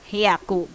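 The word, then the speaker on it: 百: Oke, untuk 100 hyaku pengucapannya.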